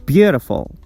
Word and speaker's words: beautiful: in the word beautiful the stress goes on the first syllable View we pronounce it with a higher pitch beautiful or condemn condemn the